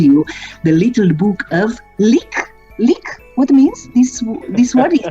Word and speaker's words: lykke: I told you, The Little Book of Lik. Lik? What means this word? It's also in Danish? It's another Danish word. That is pronounced lykke, and it means happiness.